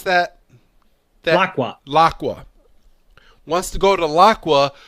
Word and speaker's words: Laqua: Terapagos wants to go to how do you pronounce that? Laqua.